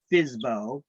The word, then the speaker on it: FSBO: this fsbo fsbo fsbo pronounced fizbo is short for for sale by owner it's an acronym that